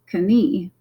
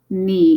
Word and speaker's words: knee: Remember, don't say the K like they do in German. They would read this as Knie, but this is just knee in English. Remember, we've dropped the K sound, but we keep the spelling.